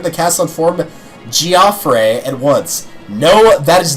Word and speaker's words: Geoffrey: actual voice announcer, and they pronounce it Geoffrey. It is not Jeffrey, it is Geoffrey, and it bugs me.